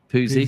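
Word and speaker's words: Pusey: Listen, if you are, as I call him, SP, but Simpson, one of you two say his second name because I'll pronounce it wrong. Poozy, thank you.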